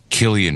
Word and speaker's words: Cillian: It's Cillian Murphy with a hard C. Killian Murphy. It's Irish.